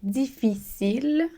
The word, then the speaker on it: difficile: Donc, on se rappelle que le C fait le son S devant les lettres E, I et Y. Ici, on a le C est devant un I, c'est difficile.